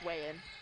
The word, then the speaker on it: Wayand: right I think so wayin yeah Matthew Wayan way I don't think he pronounced the D yeah it's wein kale Knuckles 4 three